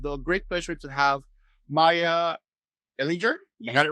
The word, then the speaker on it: Maija Ehlinger: Today, I have the great pleasure to have Maija Ehlinger. You got it right? Oh my God, so bad at pronunciation, but very happy to have you here, editor in chief of Hypepotamus.